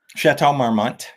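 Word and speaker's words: Château Marmont: Correct my pronunciation. I'm moninoi but it's the chart marmmo. Chatau marmmont.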